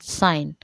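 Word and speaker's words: sign: ठीक है, तो वेडनेसडे तो डी साइलेंट, आवर एच साइलेंट, knife के साइलेंट, कॉम बी साइलेंट, साइन जी साइलेंट।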